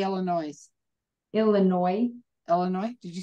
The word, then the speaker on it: Illinois: did you say Illinois Illinois Illinois did you say that yes okay you don't pronounce the S at the end did you take organ